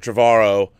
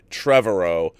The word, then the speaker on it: Trevorrow: I've been saying Colin Trevorrow 's name wrong it's not Colin Trevorrow like I was saying a million times in my review so mr. Tovar Oh is not correct it's Colin Trevorrow I was corrected hello